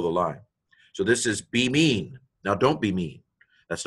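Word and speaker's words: בימין: So this is be mean. Now don't be mean. That's not nice. But the word is pronounced be mean.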